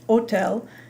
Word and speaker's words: hôtel: If you've ever had any French, you'll remember that the word hotel, for example, is pronounced hôtel, and the word hospital is pronounced hôpital.